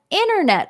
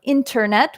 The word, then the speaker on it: internet: when we say an internet troll or internet we can pronounce the T or not so internet troll is